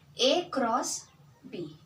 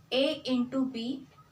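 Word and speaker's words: a×b: as a cross so how to pronunce this a cross B a into B is wrong a multiplied with B is also wrong so we have to pronounce it as a a cross B is equal to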